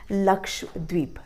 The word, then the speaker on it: लक्षद्वीप: ये भी आइलैंड है, LAKSHADWEEP, इसका प्रोनाउंसिएशन है लक्षद्वीप।